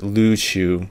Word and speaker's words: Luchu: own unless otherwise noted although ryukyu is the more commonly used pronunciation today this is actually not a native term the native pronunciation is lu shu and i will be using the native pronunciation throughout this video although for non-native speakers